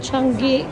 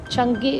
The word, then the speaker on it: Changi: Welcome to Chang airport. Changi. Changi airport daw pag-pronounce Changi.